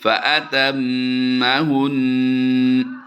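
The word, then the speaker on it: فَأَتَمَّهُنَّ: बिकलिमातिन बिकलिमातिन फ़अतम्महुन। फ़अतम्महुन। शाबाश। नून के ऊपर जो शद है इसकी वजह से गुन्ना करेंगे और ज़बर को हमने वक़फ़ की वजह से छोड़ देना है, साइलेंट कर देना है। फ़अतम्महुन।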